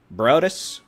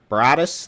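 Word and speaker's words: Broaddus: That's moving south towards Bronson, Pineland, Brodus. I just mispronounced it again, didn't I? Back up, back up, back up, back up. Brodus, thank you.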